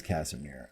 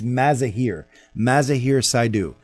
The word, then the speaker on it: Mazahir Saidu: I think it's Casimir. I don't have the first video of the wait. Oh no, I'm sorry. It's Mazahir Saidu. Mazahir Saidu. I'm sorry, I've been mispronouncing his name this entire time.